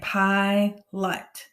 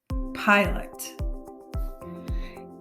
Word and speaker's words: pilot: before the consonant in the first syllable we have an open syllable that means this makes a long sound so for this word we would say pi lut pilot in our next word